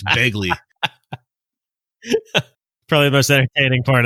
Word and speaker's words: Begley: Vince points out that Macho Man mispronounced Ed Begley Jr.'s last name as Bagley. It's not Bagley, it's Begley.